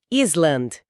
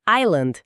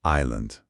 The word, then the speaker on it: Island: É dizer Island. É o cérebro que quer ler tudo. Quer ler tudo. Mas, na verdade, esse S é um S fantasma, não é? O som correto é Island. Island.